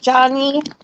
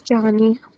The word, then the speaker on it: Jani: Am I pronouncing that right, Jani? that's correct, Johnny. It's Johnny.